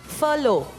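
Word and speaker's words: furlough: repeat the word please yes फलो एफ यू आर एल ओ W that's the pronunciation of इट बट the spelling is एफ यू आर एल ओ यू जी एच आई am sorry it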